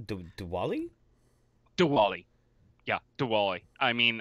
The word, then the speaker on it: Diwali: festival of the wila the wali the wali Diwali dude Diwali Diwali yeah Diwali I mean I know as